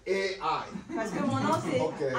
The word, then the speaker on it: Ai: in Vietnam, we pronounce I. Voilà, au Vietnam, on dit Ai, on le prononce comme ça.